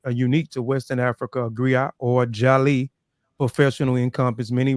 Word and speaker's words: griot: unique Western and unique to Western Africa a gri or jali professional Encompass many R Grio pronounced Grio have been referred to as historians